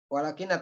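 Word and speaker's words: وَلٰكِنَّ: tetep Sabit ada Sabit walakinna bacanya walakinna tasdid ini Isim Inna apa namanya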